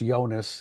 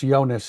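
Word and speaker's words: Jonas: is it is pronounced yonas the the spelling is with a J but it is pronounce yonas he's a good football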